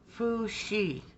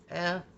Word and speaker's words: Fuxi: Now there's also a brand of marker paper, and it's called Fuxi. It's spelled F-U-X-I.